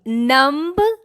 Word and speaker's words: numb: say it and UMB number no last B is silent air call it numb